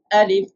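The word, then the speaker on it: ألف: Alif, no stretch.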